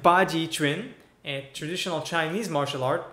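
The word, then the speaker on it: Baji Quan: Baji Chuan. I know it looks like Quan, but in Chinese transcript you read it Chuan.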